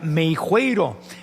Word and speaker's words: Meixueiro: Meixueiro. Es que yo estoy en Yucatán y aquí en Yucatán la X suena como sh. Entonces acá le ando cambiando el nombre.